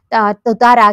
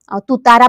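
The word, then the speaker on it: tuatara: असा प्राणी जो आहे त्याला ततारा किंवा तुतारा पण म्हटलं जातं किंवा टोटारा पण म्हटलं जात नॉर्मली तुतारा अस प्रोनन्सशन केल केलं जातं छोटासा आहे पालीसारखा आहे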